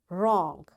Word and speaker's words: wrong: W is silent when it comes before R.